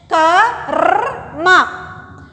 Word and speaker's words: क्रम: यहां देखो बेटा, प्रोनाउंस देखो, कर क्रम संख्या का पहले आ रहा है क, बाद में र की मात्रा हम प्रोनाउंस कर रहे हैं क्रम।